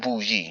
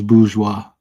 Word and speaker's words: bougie: I'm saying I mean that's how you pronounce it when you speak French it's boua it's not bougie is more of American dialect I'm sleepy bro I'm